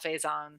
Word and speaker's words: Faison: I don't know how to pronounce his Faison. last name. I think it's Faison.